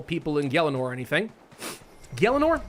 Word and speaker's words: Gielinor: Gielinor? That's how you say it, right? I used to always say Gielinor, which I know is wrong.